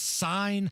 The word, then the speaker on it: Seine: I think it's pronounced Seine, the Seine River in Paris.